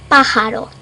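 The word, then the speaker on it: pájaro: know it's a bird in Spanish it's Pajaro in the J it's ha ha like you're laughing ha ha but with a more accent in it so it's bird and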